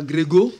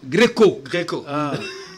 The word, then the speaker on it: Gréco: Oui, voilà, merci à José Kimonyo, Moutabazi, merci à Anne Gréco, ce n'est pas Grégo, non, Gréco, comme la Grèce antique par exemple.